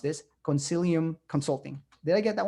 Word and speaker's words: Concilium: He's currently president of, and Kirk, correct me if I'm mispronounced this, Concilium Consulting.